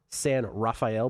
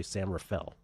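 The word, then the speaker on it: San Rafael: It's San Raphael, but you don't pronounce it that way. You say San Rafale, because if you say Sam Raphael, you are clearly not That's another one.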